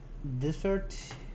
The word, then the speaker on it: dessert: Like dessert is we have a delicious dessert, but I don't know dessert. Dessert. Dessert, yes, this is the correct pronunciation.